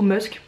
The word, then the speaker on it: musc: Il doit y avoir une pointe de musc aussi, j'ai jamais su comment prononcer ce mot, musc ou musk. Moi je dis musc.